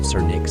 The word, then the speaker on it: Cernyx: Cernyx should always be pronounced Cernyx and Cernunno should always be pronounced Cernu. No, don't let anyone tell you otherwise.